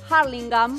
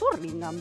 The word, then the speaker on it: Hurlingham: Acá mismo pasa también con Hurlingham. Hay quienes dicen Hurlingham. Sí. Hurlingham. Sí. Es Hurlingham.